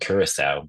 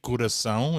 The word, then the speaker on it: Curaçao: I believe it's called Curacao, but I know. But the way they say it. You know what? I have distinct memories. And it's actually Curaçao if you're Portuguese. That's how you say it.